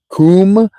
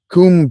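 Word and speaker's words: Koom: Kum pronounced pronounced like the Welsh kum denotes something of a hollowess.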